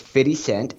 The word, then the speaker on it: 50 Cent: so first of all you got to say it right it's fitty cent feet insane fitty cent and so yeah cuz